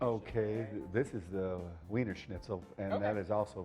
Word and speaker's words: Wiener Schnitzel: Wiener Schnitzel? Wiener Schnitzel, Okay.